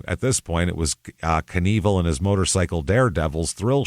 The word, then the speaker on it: Knievel: What is It's going to be Knievel. You know what it is? It looks like it rhymes.